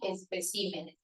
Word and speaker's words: especímenes: De carácter, caracteres. De régimen, regímenes. Y de espécimen, especímenes.